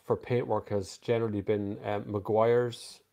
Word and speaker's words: Meguiar's: paintwork has generally been meguiar's there's another way pronounced as well mcguire's wax i used that